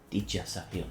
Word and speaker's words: Aditya Sahil: Aditya Sahil, yes, pronounced it right.